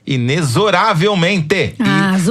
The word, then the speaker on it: inexoravelmente: futuro político por favor ensine ao brasil que a pronúncia correta dessa palavra por incrível que pareça é inexoravelmente jurava realmente sério e